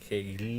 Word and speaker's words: Glean: Acuérdense, método Glean, no con G. Glean.